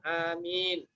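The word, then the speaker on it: آمين: Alifnya bisa pendek, bisa panjang. Bisa dibacanya amin, bisa. Atau bisa amin, ada dua. Asal jangan baca al-amin aja. Al-amih.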